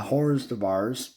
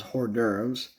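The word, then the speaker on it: hors d'oeuvres: good hot Jazz amazing uh Arrangement there uh hores dears as I used to pronounce it until I learned that was hor dures by Ambrose and his orchestra uh learned that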